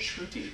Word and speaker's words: Shruti: Shruti. Shruti. Yeah, like Trudy Fruity.